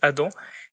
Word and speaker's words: Adam: Je pense que ça se prononce Adam qui est le maire actuel de Nanter.